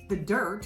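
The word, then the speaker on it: The Dyrt: some of those apps are free roam campendium the dirt which is spelled d-y-r-t don't want to confuse that one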